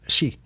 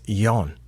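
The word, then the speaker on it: 四: go four minutes and when I was a child I was taught that four was she but now learning it on Dual lingo it says it is yon I looked it up and apparently both mean four but she means suffering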